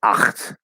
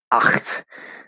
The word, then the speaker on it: acht: Like the word eight is pronounced acht, acht, right? It's like it sound from English. It sounds like you're trying to like literally you're trying to spit the word out of your throat, and that's you know